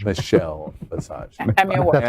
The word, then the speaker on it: Michelle Visage: Emmy award-winning Michelle Massage. Michelle Visage. Emmy Award. That's how you pronounce it.